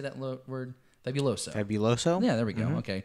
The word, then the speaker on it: Fabuloso: Fabuloso.